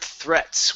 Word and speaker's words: threats: Okay, the word threats. Where did you go? Right here. Okay, push your tongue between your teeth.